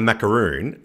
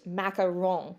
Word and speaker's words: macaron: and macron okay so i will admit i do say macaroon quite a lot because i'm american and and spelled with two o's are actually the coconut concoction all right so it's the power of coconut and it's usually dipped in chocolate they're super delicious but very different from the french macaron okay spelled with one o and that is what